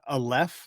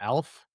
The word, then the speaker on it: Aleph: Aleph, I would say, not Alf.